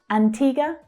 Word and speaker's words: Antigua: The second syllable is the stressed syllable in the first word. It's the long E sound. Antigua. And the last two vowel letters are actually unstressed. They make just one sound, the schwa, Antigua.